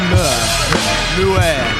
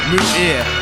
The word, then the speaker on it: Muir: But tonight he's going one-on-one with the debuting Levi Muir, who I'm seeing for the first time in about 4 years.